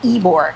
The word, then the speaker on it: Ybor: So, it's spelled Y B O R, but it's called Eore. Eore, which makes me think of Eigore, like Eore, right?